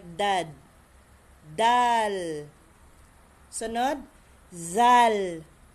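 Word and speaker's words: ز: ko ha dalal za za Okay za ang consonant letter dito ay Z letter z ang Z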